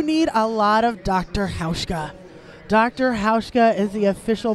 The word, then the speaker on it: Hauschka: Hauschka. Dr. Hauschka is the official bruise healer of the WFTDA. Lose the bruise with Dr. Hauschka products. It rhymes with Ouchka.